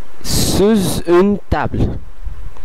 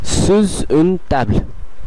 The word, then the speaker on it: sous une table: করে ফেলছে, যেমন pendant une, একই সাথে এটির উচ্চারণ করতে হবে। তৃতীয় উদাহরণটি আমরা দেখতে পাচ্ছি যে এটি এসটা এর সঙ্গে সংযোগ হয়ে sous une table, sous une table, sous une table, এবং বাংলা উদাহরণটিও বাংলা বিকল্পটিও